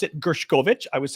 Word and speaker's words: Gershkovich: all right um Wall Street Journal reporter Evan gershovich which I guess that's the way you pronounce it gershkovich I was saying gershkovich gershovich um who is